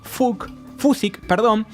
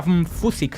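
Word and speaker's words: Fučík: Sería Fusik, supongo que se diría, ¿no? No sé checo, pero bueno. ¿Se escribe Fusik? Fusik.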